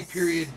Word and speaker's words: period: Now, how do you say period with a T on the end? Period. So you just pronounce the T and not the D. You don't really pronounce anything, you just stop. Period. Oh, okay. Period. It's kind of in the back of your throat.